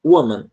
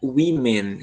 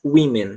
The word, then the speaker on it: women: Mas quando a gente vai para o plural, por mais que se escreva com O, a pronúncia é women, como se fosse um I.